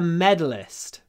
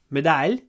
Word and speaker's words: medalist: that's better a medalist long M medal medal the stress is on the first syllable medal not medal but medal medalist m m remember it's a very stretchy sound m m medalist medist uh